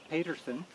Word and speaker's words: Paterson: Well, in the Scots language, those two names are pronounced quite differently. Can you do it? Paterson. Oh, okay. Is this. Yeah. Paterson. And the one with 2 T's is Potterson. Patterson.